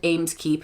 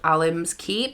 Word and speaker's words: Alimskeep: The keep is not called Ameskeep, it's called Alimskeep.